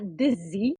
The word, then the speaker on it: dizzy: La palabra dizzy, que la pronuncio con ese zumbido, ¿no? Ese z, que no existe en español, ¿no?